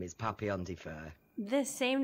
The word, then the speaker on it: PapillonDeFur: read this off because for us it looks like Papillon it is not the dog um is papian is that correct that's